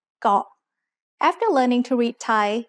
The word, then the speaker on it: เกาะ: เกาะ is usually written in English letters as K-O-H, so many foreigners end up saying ko instead of เกาะ.